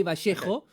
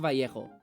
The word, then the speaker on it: Vallejo: The double L is pronounced differently depending on where you're from. We pronounce it like a sh, so I say Vallejo. But most Spanish speakers will say Vallejo.